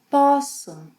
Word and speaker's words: posso: Poder in the infinitive has a closed O sound, poder, but when conjugated in the present tense, it opens. Eu posso.